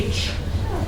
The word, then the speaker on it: beach: sand sand a beach notice it's b beach not PFF Peach which is fruit Beach Peach the beach